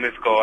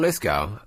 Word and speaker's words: Lithgow: Yeah, John Lithgow. I think that's how you're supposed to pronounce his name, although it sounds odd saying it. John Lithgow.